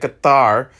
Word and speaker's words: Qatar: Okay, that's how you say it, Qatar.